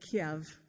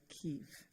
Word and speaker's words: Kyiv: So, the Russians say Kiev and the Ukrainians say Kyiv.